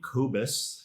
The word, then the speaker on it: Kobus: I pronounce his name Kobus.